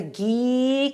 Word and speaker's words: ghee: to be talking about ghee it's spelled g h e e and if you don't know what it is we're going to learn hello and hello hi so it rhymes with Glee yes right and I